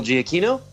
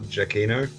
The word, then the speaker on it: Giacchino: All right, Jeremy, Michael Giacchino? Ed, It's actually pronounced Michael Giacchino.